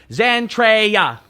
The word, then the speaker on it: Zentreya: was as obvious as zentreya's spelling z-e-n-t-r-a-y-a zantreya correct that is the correct it's like zendaya it's spelled the same way um yes so trey